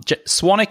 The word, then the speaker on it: Swanwick: Um, Swanick is s wic. So, it's it's spelled Swanwick even though it's pronounced Swanic.